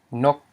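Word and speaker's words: ນົກ: Because we have a low consonant, n, followed by a short vowel, o, and a dead consonant, a dead syllable, which is g, because it's a stop. So it equals a mid-tone. So the pronunciation is nok, nok.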